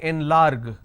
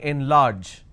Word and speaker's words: enlarge: tend to make mistake because you see the letter g and you will end up using a ger sound but no this is a j sound we don't say enlarge we say enlarge mar impart now